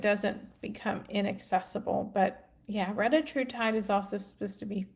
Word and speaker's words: retatrutide: But yeah, retatrutide is also supposed to be fantastic for the liver. And I know some people pronounce it retatrutide, but Dr.